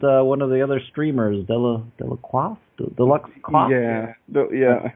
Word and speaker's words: Delacroix: Like I said, the Professor, previous Pauper winner, and one of the other streamers, Delacroix. Yeah, How to pronounce that? Yeah, Delacroix, I think. Delacroix.